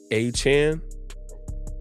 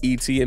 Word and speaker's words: Etienne: Travis said that his last name is pronounced Achan. We've been saying Etienne this whole time, but he said the proper pronunciation is Achan.